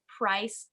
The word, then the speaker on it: Preiss: in just a minute it's pronounced a little different than how it looks her name is actually robin price glasser which is a beautiful